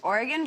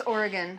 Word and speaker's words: Oregon: Okay, well, we have one more semifinals matchup, and that is Oregon versus Minnesota.